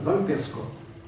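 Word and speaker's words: Walter Scott: prose tiré de euh il faut le prononcer à la française Valter SCOT il un trit d'union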